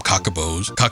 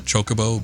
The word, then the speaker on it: Chocobo: One of my friends kept calling them cockaboos. I don't remember if I subscribed to that right off the bat. I always probably thought chocobo, but he'd always call them cockaboos.